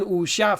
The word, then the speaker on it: wuxia: chinese so it's an usha film i use a n why well this word you don't really pronounce the w right so remember that